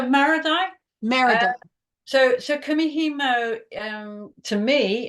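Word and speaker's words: marudai: I always thought they were Mori dyes. Maradi. Okay, so Maradi.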